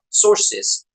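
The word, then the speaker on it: Tzortzis: him in the beginning Hamza sources that's how you pronounce his last name right yeah he used to Champion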